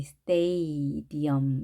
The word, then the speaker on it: stadium: 자, 우리가 보통 스타디움이라고 한글로 표기하는데요. 아가 아니고 A입니다. A, 스테이디엄 이렇게 되겠죠. 음이 아니라 스테이디엄, 스테이디엄.